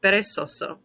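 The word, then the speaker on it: perezoso: atletico comico divertido intelligente the letter z in spanish is pronounced basically like the letter s so this word is pronounced peresoso you're ending it with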